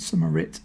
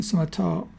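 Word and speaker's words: Summitar: see that's the Scimitar I said it wrong in the last video. I said Summerit. It's the Summertar 50 f2.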